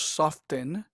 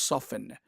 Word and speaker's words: soften: Now, noten que aquí la T es muda. No decimos soften, decimos soften. Now, algunas regiones de los Estados Unidos pronuncian softened, pero yo prefiero decir soften, ¿ok?